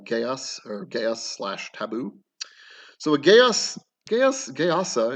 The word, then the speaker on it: geas: So now you can take Geas or Geas is actually, I think, technically how it's pronounced, um, as its own